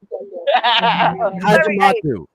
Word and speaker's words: Hadjimatheou: Hadjimatheou.